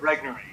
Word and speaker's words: Regnery: In 2005, well, you're the president, and in 2005 it was founded by William Regnery. Is that how you pronounce it? Regnery, yeah.